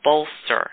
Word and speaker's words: Bolstr: It's a company called Bolster, and that's spelled Bolstr.